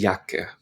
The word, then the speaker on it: Jacke: Die Jacke, die Jacke. So we pronounce that E on the end, die Jacke.